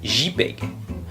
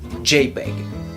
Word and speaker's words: JPEG: Ça se prononce JPEG. En anglais, la lettre J se dit J. Vous pouvez donc aussi, si vous le souhaitez, dire JPEG.